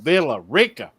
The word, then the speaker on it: Villa Rica: You got to say it right, Stone. Villa Rica, Georgia. No, Villa Rica.